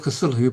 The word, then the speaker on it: Cthulhu: to pronounce it but I believe that Lovecraft originally meant the CT part sound and the hulu to be a se it's not th so the sound isn't supposed to be cthulu it's supposed to